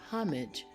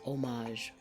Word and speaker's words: homage: and homage or homage this word can be pronounced with an H sound homage or without the H sound which is omage then we have a